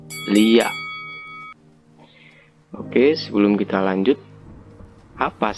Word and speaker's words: Liak: Nah, sebelum membahas lebih mendalam tentang Lea, kita harus pahami dulu ejaan yang benarnya Lea atau Lia. Nah, yang benar itu adalah Lia.